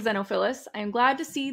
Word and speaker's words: Xenophilius: Hermione is reading about the Deathly Hallows, basically Xenophilius, I literally Googled that, so I pronounced that correctly.